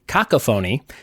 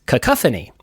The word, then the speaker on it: cacophony: some definitions of it I pronounced it caca phony and it is cacophony although I will argue